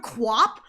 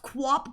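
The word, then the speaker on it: QWOP: I don't know if it's pronounced Quap, but that's what I've always called it, Quap.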